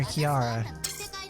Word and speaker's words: Kirara: every a student kiara i'm gonna keep calling her kiara there's this there's a there's two r's and i i'm not going to pronounce the first one ninja sphere okay cool